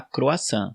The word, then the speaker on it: croissant: A gente fala croissant. A única diferença é que o R na França é bem forte. Eles não falam croissant, né?